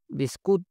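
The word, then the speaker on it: biskut: Malaysian ভাষায় বলা হয় বিস্কুট বিস্কুট এ টির উচ্চারণ ত উচ্চারণ করা হয় মালয়েশিয়াতে এখন রুটি রুটিকে এটা মালয়েশিয়ান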